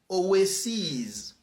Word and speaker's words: oases: Hercules you know aules aules and also we pronounce long e in plural of Greek words like say Oasis Oasis the plal is oases OES Crisis crisis Crisis crisis faces faces